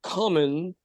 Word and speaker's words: Comyn: But it's pronounced common.